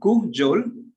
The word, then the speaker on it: cajole: Its pronunciation as kujol, and the meaning of